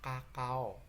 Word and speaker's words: cacao: Contoh cacao, ya, dibaca kakao, C-nya dibaca K karena diikuti huruf AO. Ini ada A, ada O, jadi dibaca kakao.